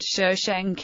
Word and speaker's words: Shoshenq: For example, the name of the founder of the 22nd dynasty is transliterated as SSNQ but transcribed Shoshenq in English, Chekonk in French, Sejong in Dutch, and Sheshonk in German.